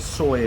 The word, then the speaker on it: soi: Just it's obvious to anybody who's been to Thailand before, but if you've never been to Thailand, the word soy, and it's spelled S-O-I.